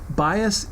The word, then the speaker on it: bias: Bias is spelled B-I-A-S.